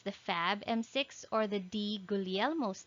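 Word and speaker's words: Di Guglielmo: fab m6 or the d gulielmos disease pronunciation is silent g this would give a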